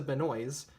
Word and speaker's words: Benoist: based on the TV show look of Melissa Benoist which I did look it up that is